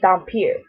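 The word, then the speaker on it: dhampir: hathaway lisa's best friend makes her a damper that's how i pronounce it back in um september of last year when i went and met rochelle mead she pronounced it dampier but i pronounced the damper so yeah rose is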